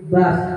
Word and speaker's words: bus: bus dan apas itu bacanya bukan bus ya tapi bas ya oke satu pertanyaan aja